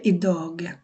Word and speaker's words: idag: এটা হবে idag. যদিও এখানে যে উচ্চারণ হয় না, গড় হয় না, কিন্তু এখানে যে উচ্চারণ হবে idag.